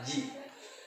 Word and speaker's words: 時: Nah, dalam bahasa Jepang, arti jam itu bukan biasanya, tapi emang diucapkannya adalah ji.